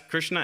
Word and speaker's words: Krishna: with Krishna and then that's Krishna ends with a a with a short a so then with a